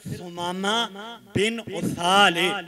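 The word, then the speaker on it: ثمامہ بن اثال: جناب سمامہ بن اسالے، اگر تلفظ نال پڑھیے نا پھر سمامہ بن اسالے، اللہ اکبر، یعنی دو واری سا ہے، اللہ اللہ، تے ساتھ بھی پیش یہ سمامہ بن اسال،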